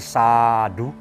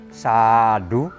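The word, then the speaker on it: sādhu: Kalau berdasarkan penulisan Pali dan membacanya, maka A-nya A panjang. Jadi sadu, sadu. Tapi kadang-kadang di telinga kita nggak enak. U-nya terlalu ditekankan. Jadi orang bilang sadu, sadu.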